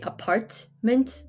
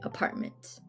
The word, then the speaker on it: apartment: you don't really say apartment you say apartment so you don't pronounce the t t in the middle